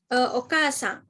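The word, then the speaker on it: お母さん: Meskipun ada huruf o, k, kemudian a, cara bacanya bukan okasan, tapi okasan gitu.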